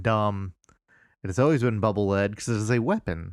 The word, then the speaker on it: Bubble Lead: Akira kumura says that Mega Man 2's bubble lead weapon is in fact pronounced as the verb lead not as the noun LED I disagree I think he